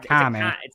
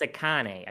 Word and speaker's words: Akane: No, it's not Akame. It's Akane.